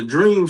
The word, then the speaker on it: DREEM: So the dream stand for and it's spelled DREEM.